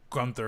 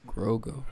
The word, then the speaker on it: Grogu: Put Gunther or Gruger or whatever they say his name is. Grogu.